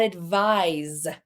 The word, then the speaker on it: advise: We've got advice and we've got advise. Soft C and the S makes a Z sound there.